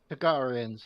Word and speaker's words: Targaryen: Targaryens, yes.